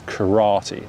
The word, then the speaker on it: karate: kura good karate karate so notice how we're stressing the second syllable so in japanese it's three similar symbols three similar syllables karate karate whereas in english we pronounce this karate let's try the next